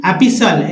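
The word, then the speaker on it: epistle: फिर देखिए एपिसल, जिसमें टी का उच्चारण नहीं हो रहा, एपिसल में यानी पत्र लेखन, पत्र लिखने का तरीका को एपिसल बोलते हैं।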